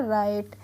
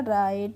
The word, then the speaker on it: write: इसका भी फ्रेंड्स एक रूल होता है, जब भी R से पहले W लगा रहता है तो वहाँ पे हम W का प्रोनाउंसिएशन नहीं करते हैं, तो इसलिए हम इससे पढ़ते हैं राइट।